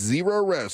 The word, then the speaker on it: Zerorez: It's spelled the same way, forwards or backwards. ZEROREZ. It's Zero Res.